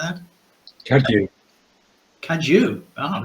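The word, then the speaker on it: Cadw: I never know quite how that's pronounced. Cabwa, is it something like that? Cadu. Cadu.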